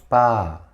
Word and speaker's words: 빠: ㅃ – ㅃ 'ㅃ' se escribe agregando la consonante básica 'ㅂ'. Cuando estás practicando la pronunciación de 'ㅃ', es más conveniente pronunciarla con '쁘'.